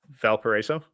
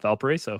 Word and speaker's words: Valparaiso: Valparaiso. Yep, there you go. Valparaiso.